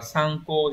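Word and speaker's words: 参考: Số 4 là tham khảo này, số 4 sẽ đọc là sang cô thì mới chính xác.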